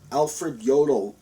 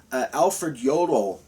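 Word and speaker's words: Alfred Jodl: that was very common alfred yodel j-o-d-l the j in germanic languages are pronounced with the yah sound so that's why it's pronounced yodel alfred yodel the last technically the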